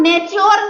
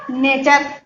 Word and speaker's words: nature: तो यहाँ पर नेच्योर नहीं हुआ, नेच्योर नहीं हुआ, क्या हुआ? नेचर।